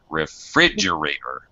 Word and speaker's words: refrigerator: and milk that's right refrigerator refrigerator well that's it second syllable stress all right good job